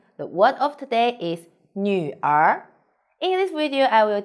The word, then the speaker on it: 女儿: hello i'm sunny the word of today is nu r in this video i will teach you how to pronounce it how to write it and how